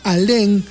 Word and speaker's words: Alén: Entonces, Alen, cuyo verdadero apellido era Alén con acento en la E y con N de nene y no con m como como él se